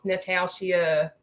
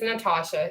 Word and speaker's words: Natasha: curious because I know everybody thinks my name is pronounced Natalia natushi uh but my name is Natasha it is yes um